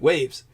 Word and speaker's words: UAV: That's how they would pronounce it, waves.